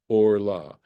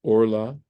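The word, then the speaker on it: ערלה: Notice I'm pronouncing this orla. It's a similar situation here, but there's no meteg. So this becomes a kamatz katan. It's the name of the vowel, and it's pronounced orla.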